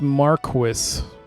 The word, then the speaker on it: Marquis: on PS2 first um it's pronounced Marquis Marquis yeah I'm not going